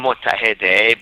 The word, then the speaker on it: Mottahedeh: Mottahedeh, but I prefer people call me.